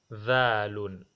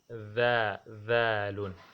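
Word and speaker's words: ذال: The dhalun, dhalun. This is how we have to pronounce it.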